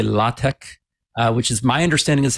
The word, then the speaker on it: LaTeX: one's right so but if you want to be fancy you can say La Tech which is my understanding